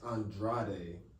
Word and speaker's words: Andrade: that name on Instagram is Andre Andrade if you're trying to spell it like that's the tradition could you spell